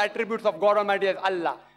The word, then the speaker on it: Allah: of god almighty is allah they write to that i ela but when you pronounce it we have to tell them pronounce it as allah salaam alaikum my